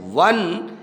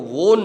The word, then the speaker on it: won: ही हैज़ वन many prices, he हैज़ वन, WON को वोन नहीं बोलेंगे, इसका उच्चारण होगा वन, वन का मतलब जीतता है, उसने जीता है।